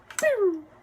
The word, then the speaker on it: Trump: The P is silent when you say his name backwards. Mert would hurt. Pew.